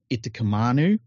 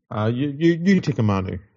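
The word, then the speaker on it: Utoikamanu: Now, they've been linked already to Stefan Itakamanu, For the West Tigers. Yep. I know. I think I've got his name wrong then. But Yutikamanu. Yeah, Yutikamanu.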